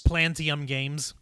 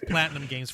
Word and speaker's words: Platinum Games: Your mispronunciation of Platinum Games for years. We tried to correct it, and it finally sticks. I can't help it. All I can think is plantains, like the plant, the fruit.